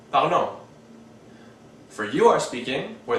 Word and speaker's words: parlons: The ONS is pronounced on, so we get nous parlons.